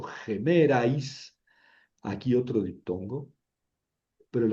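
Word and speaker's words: ἡμέραις: En gemeras, porque es espíritu rudo, pronuncio gemerais, aquí otro diptongo, pero el acento está sobre la épsilon.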